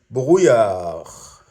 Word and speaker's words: brouillard: Il y a du brouillard. Il y a du brouillard. Il y a du brouillard. The D is silent, kind of.